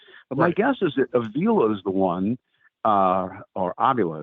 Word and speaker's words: Avila: But my guess is that Avila is the one, or Avila, as he actually pronounces it.